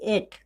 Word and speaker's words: eight: को हम क्या पढ़ेंगे, इसमें भी एक मतलब कि टी GH का जो उच्चारण वो नहीं हो रहा है, इसमें भी टी यानी कि 8, इसको क्या पढ़ेंगे, 8